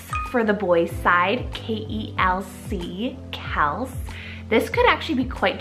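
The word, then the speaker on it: Kelc: Kels for the boys' side, K-E-L-C, Kels.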